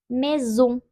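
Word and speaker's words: maison: olarak okunuyor sley Soley Eğer iki sesli harf arasındaysa Z olarak okunuyor Mezun mezun Eğer iki s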